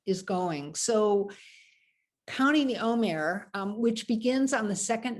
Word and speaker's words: Omer: The word Omer, which sounds like the word for speech, Vayomer Adonai, and God said, El Moshe, to Moses. It's a different spelling. This is spelled with ayin. The word for speech is spelled with an aleph, although they do sound the same unless you have a